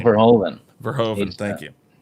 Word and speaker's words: Verhoeven: Verhoeven. Verhoeven, thank you. It's Dutch. Yes. You pronounce the V as an F, I believe. Verhoeven.